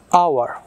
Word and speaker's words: hour: আওয়ার, HOUR, আওয়ার, আওয়ারের আগে কি বসবে? আওয়ারের আগেও অ্যান বসবে। কেন না, আওয়ার আমরা যখন উচ্চারণটা করছি আওয়ার, অ আসছে, এখানে এইচটা অ্যাবসেন্ট আছে, আই মিন উচ্চারণের সময়, সেই জন্য এখানে অ্যান হচ্ছে।